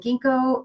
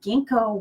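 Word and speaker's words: ginkgo: than it was there's there's another letter and they're the silent G so anyway it's kind of interesting anyway gingko what that herb does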